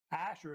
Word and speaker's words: Assur: Asher, spelled either ASHUR, ASUR, ASSUR, spelled either way. Asher is how they say it.